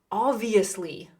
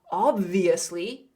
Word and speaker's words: obviously: Notice how I have the B in parentheses. You can say obviously, but that's hard to say, obviously. So usually native speakers, when they're speaking quickly, they just remove the B sound.